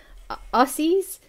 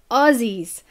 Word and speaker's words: Aussie: I've heard um some Americans call call us aies um instead of Aussies so it's it's pronounced Aussie um so that's me I'm Aussie